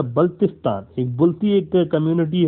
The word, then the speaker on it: बल्तिस्तान: ये बाल्टिस्तान नहीं है, इसको बाल्टिस्तान प्रोनाउंस किया जाता है। इट्स नॉट a Baltistan, it's अ बल्तिस्तान।